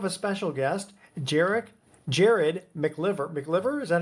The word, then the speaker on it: MacLiver: Today we do have a special guest, Jerick Jared Mcliver. Mclver, is that how you pronounce it? Mccyver.